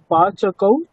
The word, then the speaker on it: पाचकाः: पाचकः अस्ति पाचकौ स्तः पाचकाः सन्ति। দেখুন এক বচন বহুবচন তো একই উচ্চারণ হয়ে গেল তাই না, কিন্তু বহুবচনে একটা আকার আছে না, তো কাজেই উচ্চারণে আমাকে ওই আকারটাকে স্পষ্টভাবে বোঝাতে হবে।